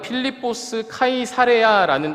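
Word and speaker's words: Φίλιππος Καισάρεια: 이곳은 빌립보 가이사랴는 장소입니다 원래 발음은 필리포스 카이사레아 이름을 가진 지역입니다 보통 지역 장소 이름을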